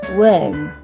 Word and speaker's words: worm: Warm, warm. Worm, worm. Warm, worm. Okay? Okay, even though it's short, but it serves as a good audio-visual aid to teach these two words, the difference of pronunciation